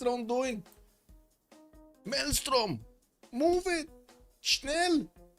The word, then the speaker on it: schnell: Melstrom, move it, Schnell. No, that's how you say it. No, in German. Schnel.